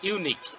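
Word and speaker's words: unique: sure সিওরের পরে অবসে this is ইউনিক ইউনিক ইউ এর মতন উচ্চারণ হচ্ছে এই কারণে এর আগে আর্টিকেল এ বসবে আইডেম এন্ড ফ্রেজ ব্লাঙ্ক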